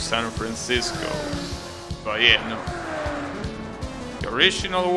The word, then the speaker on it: San Francisco: Of course, in English you will pronounce San Francisco, but yeah, no. The original one is San Francisco. That's how you pronounce it in Spanish.